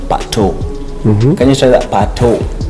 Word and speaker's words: Pato: Now, if Patrick, in short, in Kenya, it's pronounced Pato.